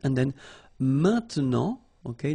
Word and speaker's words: maintenant: And then maintenant, okay? Normally we tend not to pronounce this e, okay? So we get this maintenant, maintenant, okay?